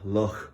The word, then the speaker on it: Loch: And the lake that we're sitting on is called Loch Corrib. Loch in Irish is like Loch in Scottish. It's just spelled a little bit differently, and it's a softer pronunciation, but it means lake.